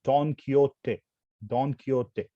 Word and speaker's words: Don Quixote: was a spanish novelist this don quixote is a very tough word to pronounce but there are ways to pronounce it i prefer to pronounce it as don quixote so this is a